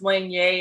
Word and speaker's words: Lanier: cajun french in our family uh lanier is pronounced lange i'm close to new orleans um and so